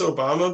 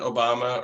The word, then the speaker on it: Obama: Anybody who stresses the second syllable in Obama is a depraved son of a bitch.